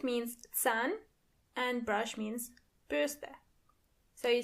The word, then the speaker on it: Bürste: A brush, die Bürste. Die Bürste. And remember, you don't pronounce the R as R, but more like R. So the word is die Bürste.